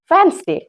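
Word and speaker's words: Wednesday: WEDNESTAY, वेडनेसडे, लेकिन इसको हम क्या बोलते हैं? वेडनेसडे, जबकि ये भी टोटली रॉन्ग है। यहाँ पे डी साइलेंट होता है आपका, इसलिए हम इसको बोलते हैं वेडनेसडे।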